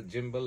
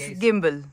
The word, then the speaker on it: gimbal: with you you know you can pronounce it in two ways either Jimbo or the gimbal it's gimbal yeah actually there's uh now